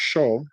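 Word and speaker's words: 首: While Shou is pronounced Shou and Dao is pronounced Dao, they share similar vowel sounds, and their pronunciations were closer in historical forms of Chinese.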